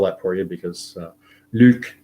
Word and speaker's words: Luc: I'll spell that for you because Luc is L-U-C, it's French.